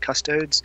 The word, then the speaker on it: Custodes: Yeah, someone has an issue with me saying the word custodes, so I'm going to now pronounce it as cunt-toads. Well, it's actually custode, because it's Latin.